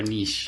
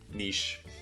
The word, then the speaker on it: niche: to Niche yeah Niche or Niche uh it depends I'll say both yeah usually I think nowadays I'm more of a Niche like what's your Niche Mito yeah again because it just makes more sense from French that's the original I think it's also